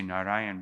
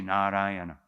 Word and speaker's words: Narayana: So because Ajamil said the name Narayan, sometimes we say Narayan, but because it says 4 syllables here, we must say Narayana.